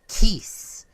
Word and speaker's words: Teeths: one of their wings they are called teeths rhymes with Geese or Elise or fleece what is this it